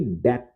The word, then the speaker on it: debt: इसे DEBT, इसे डेब्ट नहीं पढ़ते बल्कि डेट पढ़ते हैं दोस्तों। बी यहाँ पे साइलेंट होता है।